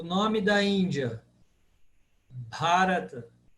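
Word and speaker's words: Bhārata: Bharata. Porque o A, terceiro A é longo. Bharata.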